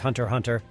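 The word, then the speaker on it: Hunter × Hunter: number two Hunter x Hunter Hunter x Hunter pronounced Hunter Hunter starts out with a familiar Trope a hero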